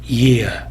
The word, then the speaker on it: year: east east 하게 되면 YEST 발음이 되는 것이고요. year 하게 되면은 YEAR 발음이 되는 것입니다.